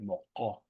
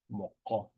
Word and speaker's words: moko: That's where you want to kind of pronounce it. Moko. Moko. Way back in your throat.